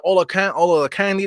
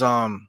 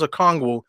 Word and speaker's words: Okongwu: I keep thinking Olakandi. That's why I don't say his name. Let me get his name correct. His name is Okongwu. Excuse me. Number 17 is Okongwu.